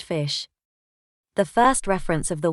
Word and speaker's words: ghoti: each grouping of letters GH as in cough o as in women t as in election as you can tell